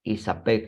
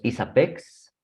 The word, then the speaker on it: ISAPEG: Se leen sin deletrear. Siempre se va a leer ISAPEG.